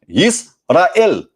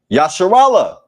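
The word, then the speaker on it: ישראל: In Hebrew, this word is pronounced Yisrael, Yisrael, Yisrael. But they believe that this was originally pronounced Yasharallah.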